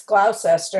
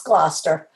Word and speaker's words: Gloucester: pronounced different things, because you look at Gloucester and it looks like it's Gloucester, and it's not. It's Gloucester. Yeah.